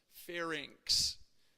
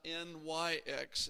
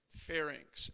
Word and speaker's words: pharynx: want to pronounce right pharynx notice it's not nyx it's not nix it's inks right pharynx everybody say it once